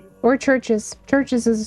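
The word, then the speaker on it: Chvrches: A is more like V or Churches. Churches is spelled with churches because churches is spelled with um I always forget about churches with a V.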